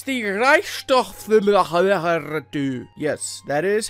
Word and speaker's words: Reichstag: there is that oh dear lord it's the reichstag yes that is how you pronounce it and it is also an awesome